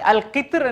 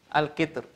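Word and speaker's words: القطر: அல் கித்ர் இதில் எழுதி கொள்ளுங்க. அல் கித்ர் என்ற பதத்திலும் மெல்லினமாக வல்லினமாக உச்சரிக்க அனுமதி இருந்தாலும் மெல்லினமாக உச்சரிப்பதே ஏற்றமானதாகும். இந்த கித்ர் என்ற வார்த்தையில் என்ற வார்த்தை திரும்ப வழங்கப்படுது மைக்கில்.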